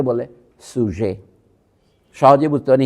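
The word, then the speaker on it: sujet: ভার সাবজেক্ট কে বলে সুজে সহজে বুঝতে পারেন ইংরেজি বানান বলছি এস ইউ জেইটি টিটা উচ্চারণ হয় না সুজে পর্যন্ত উচ্চারণ হয় এটা অনেকটা বাংলা সহজের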